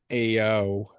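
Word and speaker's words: EoO: the Bad Bunny song, Ao. Um, I think that's how it's pronounced. It's spelled like E O.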